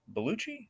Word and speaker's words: Bellucci: Bellucci? Is that how you say it? Yep.